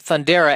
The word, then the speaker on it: Thundera: The series plot begins with the dying planet Thundera, and they're so nice that they actually spell it out how it should be pronounced. Thundera, just in case you're about to present the